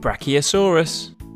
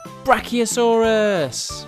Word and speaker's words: brachiosaurus: let's learn all about brachiosaurus how do you say that again bra oh saw russ do you know how